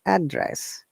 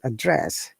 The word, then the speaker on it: address: are noun and whichever for noun our stress is fast syllable which is address and for the verb it is the second syllable address so this is one